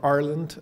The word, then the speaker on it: Ireland: So Neil and I have been talking a lot today about Ireland, or Arland, as the Irish pronounce it.